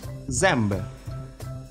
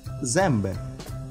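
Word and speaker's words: zęby: Следующая буква, как и вторая наша буква, тоже в различных случаях читается как Л, М, Н. Например, мясо, мэнсо, смачное мэнсо. Зубы, зембы, зембы, больше, венцы.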